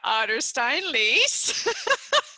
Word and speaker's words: Otterstein-Liehs: I always say, think of the animal, the otter, and a stein, like a beer.